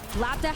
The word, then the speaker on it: LBBD: Labda has switched over to the Pharah that they're really Oh, that's how you say it? I thought his name was LBBD.